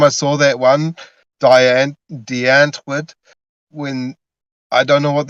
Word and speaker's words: Antwoord: But I And notice how she, you pronounce Antwoord. You use the WRORD and Wort, but in South Africa it's Wort. You use the V, the Wort. When you say W, it's usually a V, Wort.